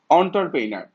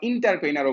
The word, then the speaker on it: entrepreneur: অন্টারপ্রেনার, এটাকে অন্টারপ্রেনারও বলে অনেকে, আবার তোমার ইন্টারপ্রেনারও বলে।